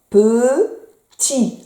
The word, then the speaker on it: petit: pe peu tes iti petit le t on le voit mais on le prononce pas le petit là c'est